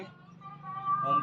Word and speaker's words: ओम: यहाँ हम अब करेंगे ओम का उच्चारण। ओ अ म।